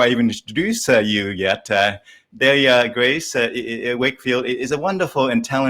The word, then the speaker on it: Dahlia: Dahlia, pronounced like DALE-yuh.